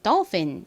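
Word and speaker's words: dolphin: D ol입니다 더 그다음에 핀 부분은요 프 소리 나는 PH 그리고 e 소리 나는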